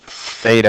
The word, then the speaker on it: theta: a Greek letter um it's literally with a th pronounced Theta you're going to see